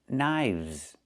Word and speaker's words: knives: One knife, two knives. Again with the VV sound plus the Z sound like in zebra.